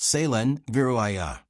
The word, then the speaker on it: Kaelen Vireth: Kaelen said, that is pronounced Kaelen Vireth.